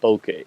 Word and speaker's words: bokeh: opportunity to educate what bokeh is and bokeh that's two syllables is actually a little bit faster to say than ambient which is three so a succinct name